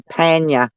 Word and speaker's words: Panya: it's actually Panya. I call him Uh, Pansy. I Panya? call, yeah, that's how you pronounce it, Panya.